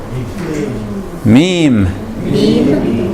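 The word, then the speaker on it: ميم: Larry you see health last line this one meme meme or is that thing meme and I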